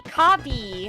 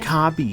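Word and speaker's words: カービィ: Kabi. Kabi. That's how you say his name in Japanese.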